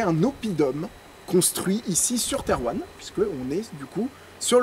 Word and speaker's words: Thérouanne: ville principale, ville capitale si on peut dire, Terwan, qui à cette époque s'appelle Terwana ou Tarwena.